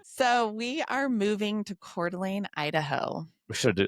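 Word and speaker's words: Coeur d'Alene: So, we are moving to Cordelane, Idaho. We should do like a drum roll. I know. Maybe you can edit that in, right? We're moving to Cordelane, Idaho.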